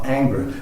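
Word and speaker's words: Ingres: favorite artist was uh anger i can't speak french so i'm mangling it somewhat but it's spelled i-n-g-r-e-s and i think every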